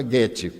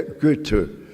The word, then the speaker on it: Goethe: E existe Goethe, eu sabia pronunciar Goethe, antes eu pronunciava Goethe, mas eu tenho uma amiga suíça, e ela me disse, em alemão não tem os sons agudos, é Goethe.